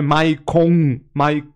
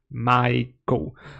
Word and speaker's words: Michael: Não é Maicon, Michael.